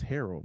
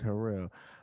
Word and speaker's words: Harrell: not on twitter though i'm so sorry i pronounced your last name wrong it's harold my bad i said herrera i thought about yeah